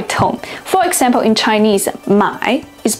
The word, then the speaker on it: 买: For example, in Chinese, 买 is pronounced with a falling then rising tone.